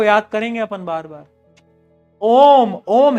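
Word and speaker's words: ohm: एच आता है बीच में। बोलते हैं ओम ही है। बट एच साइलेंट होता है।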